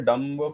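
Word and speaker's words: dumb: another example that is called Dum we say Dum Crum no we don't say okay we because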